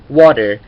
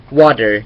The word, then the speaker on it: water: ตัว ที่ อยู่ อ่า ถ้า เกิด ตัว ที่ อยู่ หน้า สระ ที่ ที่ เป็น ที่ เป็น ตัว T อ่ะ มัน จะ ออก เสียง กลาย เป็น ตัว D Water Water เห็น ม Water อัน นี้ คือ อเมริกัน อย่าง เดียว นะ ถ้า เกิด ว่า